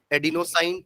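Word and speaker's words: adenosine: इसका full form भी लिख लो पूरा, एडिनोसाइन ट्राइफॉस्फेट, हाइफन डाल के एडिनोसाइन, स्पेलिंग ADENO, एडिनो हो गया। देन साइन, साइन है, शाइन नहीं है, SINE, ठीक है।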